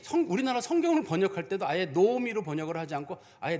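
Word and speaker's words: נעמי: 성경을 번역할 때도 아예 노오미로 번역을 하지 않고 아예 나오미로 번역을 해버렸어요. 실제 이름은 나오미가 아닙니다. 노오미. 그래서 우리가 이스라엘 사람들을 만났을 때는 그 이름을 다 노오미라고 발음을 해야지 뭐 그걸 가지고 나는 나오미다.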